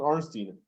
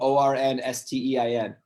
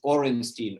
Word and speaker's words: Ornstein: mistake i guess because of the way it's pronounced that they think my name is orenstein o-r-e-n-s-t-e-i-n so sometimes my mail goes to